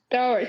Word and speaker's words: Delris: Delris, that's how you say it.